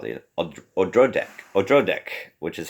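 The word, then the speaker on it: Odradek: It's about this little creature called the Odrodek, which is how the audio recording pronounced it.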